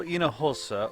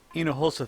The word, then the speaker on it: Hinojosa: H is silent. Teatro Hinojosa, or Hinojosa Theatre, was built in the late 1800s.